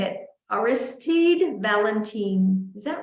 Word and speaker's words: Valentin: to say it aristide Valentin is that right I think you're if you're saying it the French way you have to get that last syllable through the nose eh Valentine okay anyway oh good